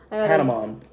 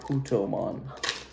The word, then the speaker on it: Patamon: Another Putomon. Patamon, not Putomon.